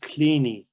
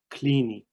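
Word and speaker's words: Kleene: regular expression uh by the way that is pronounced clini clini the scientists who created using perl the regular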